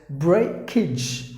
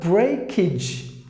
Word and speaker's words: breakage: Or in Tamil like A, breakage, and then this AGE you pronounce it like ij, like ij. You say it exactly. So breakage, breakage, something that has